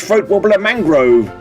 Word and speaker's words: Throat-wobbler Mangrove: It's pronounced throat wobbler mangrove.